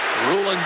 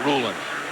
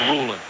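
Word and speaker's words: Rulon: Ruland Jones was the man applying the pressure. And Ruland Jones prefers his first name pronounced Ruland. Sometimes you hear it Rulan Jones, but he said it's Ruland.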